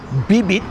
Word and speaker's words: bibit: You stop the word before you spit the word out. It's almost like a silent letter, but it's not. You actually say the letter, but without what they call aspiration. So, bibit means seed.